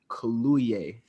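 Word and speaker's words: Kaluuya: name is actually i i looked it up so i can make sure we all say it right it's daniel colluey so yeah um i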